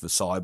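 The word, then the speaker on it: Versailles: and so we want you know into Midway viles driver which should be pronounced verai but I digress you're not the first person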